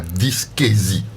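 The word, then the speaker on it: dyschésie: voilà ainsi de suite très bien alors la dysquésie puisque c'est de ça qu'il s'agit qu'est-ce que vous qu'est-ce que vous mettez dans quelle est cette maladie là la dysquésie reprononcez cela correct vous le prononcez déjà très très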